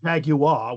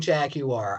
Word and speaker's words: Jaguar: I feel weird saying Jaguar. I don't care that the British company says that's technically how it's pronounced. I say Jaguar, and I feel like